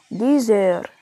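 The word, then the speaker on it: dix heures: طب عشرة ها أنطق الإكس إيه تتنطق زد، إلي ديزير، إلي ديزير.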